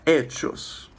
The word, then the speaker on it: hechos: No hay hechos. The H is silent.